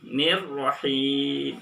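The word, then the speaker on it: الرحيم: Hi tipis. Tapi ketika masuk ro maka harus terdengar tebal. Jangan tebal. Tapi tipis dulu. Ketika masuk ke ro baru dibacanya tebal. Bismillahirrahmanir, tipis dulu, baru ketika masuk ke ro tebal lagi. Nirrahim. Itu adalah bacaan yang betul.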